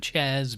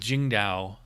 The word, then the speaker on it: Tsingtao: I don't know if it's pronounced Tsingtao, or I've heard it's pronounced Tsingtao, like with a J kind of sound. Let's say Tsingtao.